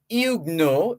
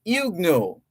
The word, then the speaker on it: Huguenots: France also known as igno h-u-g-u-e-n-o-t-s the T there is silent because it's French h-u-g-u-e-n-o-t-s so they're also there were also the calvinist Protestants of France were also known as igno igno uh it's been